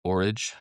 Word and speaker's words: Horage: And you might hear them pronounced Orage or like porridge, but I've heard both ways and I'm going with Horage.